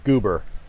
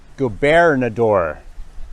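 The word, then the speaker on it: Gobernador: is the surprise so I usually pronounce it wrong I just call it goober but it's go bear in the door Canyon Road that's the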